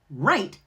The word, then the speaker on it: right: Right has a silent W.